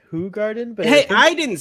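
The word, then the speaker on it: Hoegaarden: what what are you drinking kevin says it's pronounced who garden but hey i didn't say it google's saying it no but i thought i heard i thought i heard hogard and i was like what the [ __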